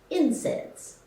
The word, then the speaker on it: NSAID: non-steroidal anti-inflammatory drugs or nsaid pronounced incense nsaids include all the